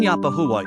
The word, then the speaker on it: Yapahuwa: The term Yapahua is stressed on the first syllable.